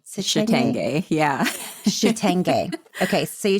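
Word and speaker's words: chitenge: Can you pronounce that clothing? Shitenge. Shitenge.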